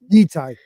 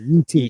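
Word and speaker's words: Yi Ti: Like, it's right on the borderline of how do you pronounce Yitai? Yitai or Yiti. I'm sorry, Yiti.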